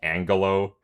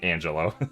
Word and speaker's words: Angelo: Because uh I I I I kept mispronouncing his name. I kept saying Angalo emeralds when but it's clearly Angelo and uh people will not let me forget it.